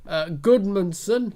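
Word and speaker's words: Gudmundsson: Goodmanson, have I pronounced his name right?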